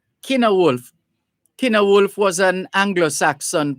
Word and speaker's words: Cynewulf: And this Kina Wolf is spelled CYNEWULF. CYNEWULF. Kina Wolf.